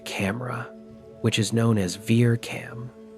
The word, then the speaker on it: VIRCAM: By using Vista's infrared camera, which is known as Ver Cam, V I R C A M, the astronomical